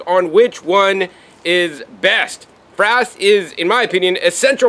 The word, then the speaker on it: frass: We're going to talk all about frass. No, not it rhymes with ass, but we're talking about frass, which is insect frass.